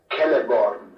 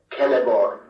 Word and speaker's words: Celeborn: For example, a name like Celeborn would be pronounced in Sindarin as Celeborn, with a consonant R clearly heard before the final N, Celeborn.